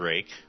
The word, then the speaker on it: Rake: again uh the dwarves names are Braun and rake the r-o-n and r-a-k-e this is the Dallas